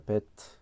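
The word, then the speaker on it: בית: 베트. 그래서 베트는 이렇게 쓰고요. 베트. 그래서 얘는 소리값이 B. 그래서 발음은 브 발음 납니다.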